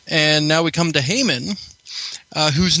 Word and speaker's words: Haman: You could also play a little bit of a pun here, because you could also pronounce it as Hamin.